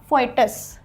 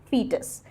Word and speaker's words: fetus: Do not pronounce it as fetus. It is not fetus, it is fetus.